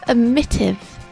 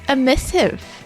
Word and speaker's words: emissive: it make it emitted emissive emittive i i pronounced my t's there's no tease and emissive it's emissive huh that hurt again are